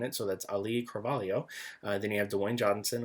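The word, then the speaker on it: Cravalho: casts that are coming back is um Ali Calo uh Calio now the way the pronunciation for that last name I had to look for a uh her specifically saying it so that's Ali Calio then you have Dwayne Johnson of course who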